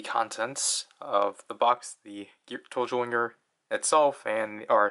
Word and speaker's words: Geartozinger: Toji Tendo, but obviously the G is romanized as a ZI, and we know in Japanese Z's are typically pronounced with, I think it depends which characters are together, but like certain characters with a Z, you have to pronounce them as J's.